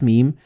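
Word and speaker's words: ميم: in the same word, you don't pronounce noon or ba, but you pronounce meme. Like in this example, you read كَلَّا لَيُنبَذَنَّ فِي الْحُطَمَةِ. So the noon and ba, they will be assimilated together and you will pronounce them as meme.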